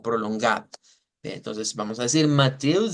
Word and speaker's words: Matthäus: La diferencia radica en que esta E es una E larga. Entonces decimos Mateus, Mateus, y mantenemos esa E como prolongada. Entonces vamos a decir Mateus 7, 24.